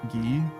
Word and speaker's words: Guy: I think his name in Japanese is Gi. It's spelled with a Gi. I think it's long Gi as well. So like Gi with a long vowel after it. But people do call him Guy.